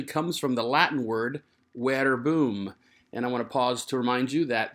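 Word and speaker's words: verbum: from the latin word where boom and i want to pause to remind you that the letter v in classical latin is not pronounced v it's a sound like a w so this is where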